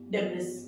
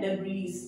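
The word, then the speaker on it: debris: क्या बोलते है इसको डेब है ना क प्रस इसका है डेबी ये जो ये वर्ड है ये वाला इसम ज्यादा आप स्ट्रेस डालेंगे डेबी ठीक है मेनी पीपल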